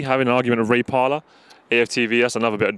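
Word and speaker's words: Parlour: Ray Parler? Yeah, 100%. Man. He's a howler. His name rhymes with howler, Parler.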